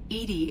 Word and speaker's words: EDI: why are you named Edie Edie is the phonetic pronunciation of EDI that is an acronym for enhanced defense intelligence how are you getting along with Joker mr.